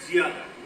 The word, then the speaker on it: زیادہ: بڑاؤ نہ آپس میں ملت زیادہ, اس کا تلفظ ہے زیادہ.